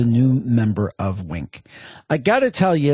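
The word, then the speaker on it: Winc: Uh, honestly, and I love Wink. Now, that's spelled W I N C.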